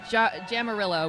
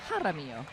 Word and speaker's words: Jaramillo: Okay, so I've been pronouncing, I started with Jamarillo, which was wrong. Now I did Jaramillo, and now we're finding out it's Jaramillo.